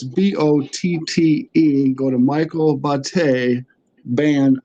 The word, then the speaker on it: Botte: And just to help you out, brother, it's actually pronounced in the Italian pronunciation. My name is Michael Botte.